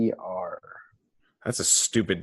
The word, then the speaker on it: Rumer: Is it rumor like the word rumor? Like Rumer.